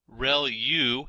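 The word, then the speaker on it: ReLU: There are multiple hidden layers like convolution layer rel u is how that is pronounced and that's the rectified linear unit that has to do with the activation function that's used.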